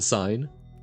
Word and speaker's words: sin: long time since I've not sin sign yes but that's how it's pronounced but written as Sin um okay my favorite